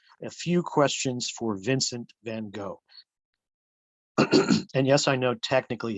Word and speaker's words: Van Gogh: A few questions for Vincent van Gogh. And yes, I know technically his name is pronounced Van Gogh, but I'm just going to keep saying it Van Gogh.